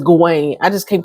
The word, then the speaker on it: Gawain: G1 and Daron, G-Wayne, and his name is Gawain.